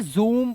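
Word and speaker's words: zoom: दोस्तों rule number 30 को ध्यान से समझना, जब किसी शब्द में डबल ओ दिया हो तो डबल ओ का उच्चारण क्या करेंगे, ओ नहीं ऊ करेंगे। क्या करेंगे, ऊ, बड़ा ऊ। हिंदी तो आपको आती होगी, जैसे इसे जूम पढ़ेंगे, ऊ का साउंड आ गया।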